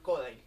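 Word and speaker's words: Kodály: Me formé en pedagogía Kodai, que es a través del canto. ¿Perdón? Es una enseñanza a través del canto. ¿Cómo se llama? Kodai. Kodali se escribe.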